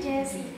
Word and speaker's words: Geszy: Iya, actually nama aku tuh pronunciasinya bukan Gezi tapi Jessie.